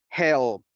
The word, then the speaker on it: helped: Help. Ah, entonces esta ed se va a pronunciar como una T. So we don't say helped. Instead, we say help, help, help.